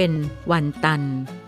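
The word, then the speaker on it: 文单: คน ลา ว่า เหลี่ยว คำ ว่า วัน ตัน คือ เมือง เวียงจันทน์ แต่ คน จีน จะ ออก เสียง เป็น วัน ตัน อิง ตาม แผนที่ ประวัติศาสตร์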